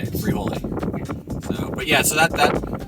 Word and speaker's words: Frijole: Yeah, That's how you say it, Frijole.